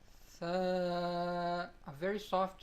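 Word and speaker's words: ثاء: Tha is a very soft sound. When the tip of our tongue touches the edges of the upper two front teeth, that is how we start to originate the sound of this letter.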